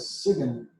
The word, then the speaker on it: sign: Now you notice we pronounced S-I-G-N as Siegen.